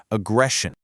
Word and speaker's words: aggression: For pronunciation, listen to that eshin at the end. It makes a shun sound. Listen, aggression.